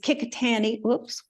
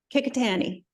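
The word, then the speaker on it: Qikiqtani: can pronounce them is because I heard them pronounced every day. So there is Kikitani, Kikitani. That encompasses most of Baffin Island and the north of Nunavut. Kikitani.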